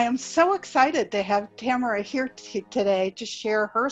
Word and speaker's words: Tamara: special woman named and I'm probably going to mispronounce it because I never heard your name spoken camera yes Tamara yeah camera Hunter and Tamara is a cancer